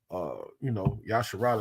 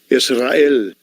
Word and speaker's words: Israel: This is Yasharal is the proper way to say Strong's G 2474, Israel. Israel. Boy, they mangle the word. Boy, that Yiddish shit, they mangle it.